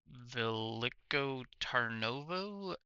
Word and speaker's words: Veliko Tarnovo: It looks like they have a Renault Premium high roof with 430 horsepower going to Veliko Tarnovo, 17 tons of airmail. Did I pronounce those correct?